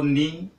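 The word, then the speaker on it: knee: टू पे हम लेते हैं एन पर से कौन सा वर्ड बनेगा, तो नी, के एन डबल ई, के साइलेंट है इसलिए उसको नी बोला जाता है, एन से स्टार्ट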